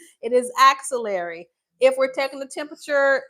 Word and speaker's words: axillary: If you're taking the temperature um under the armpit, how do you pronounce that word? Take that you out. Auxiliary is a cord, it's a extension. Axillary. Axillary. Everyone say axillary.